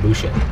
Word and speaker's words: Boucher: Like a voucher with a B.